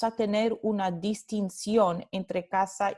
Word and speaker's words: casa: con la interdental sorda, y casa, esta segunda palabra, se va a pronunciar con la fricativa alveolar sorda.